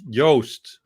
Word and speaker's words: Joost: that's fine oh please tell us the correct pronunciation so that we know well it's very maybe not for you but it's yoast but double o yeah no okay but juice is okay i know yo yo i'm so